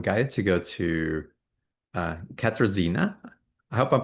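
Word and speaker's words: Katarzyna: Um, but I'm guided to go to uh Katrazina. I hope I'm pronouncing that correctly. Welcome to the call. Please pronounce your name. It's Katzina but it's s my simpler name is which is short.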